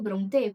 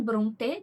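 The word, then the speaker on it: Brontë: E foi exatamente nesse vídeo que elas pronunciaram bronê. Então eu acho que a pronúncia correta seja bronê.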